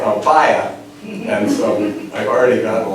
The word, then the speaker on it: Ampaya: and in some countries, they say Ampaya with an accent over the A to make the pronunciation match the English. But in Cuba, they mostly say Ampaya, and so I've already gotten like criticism.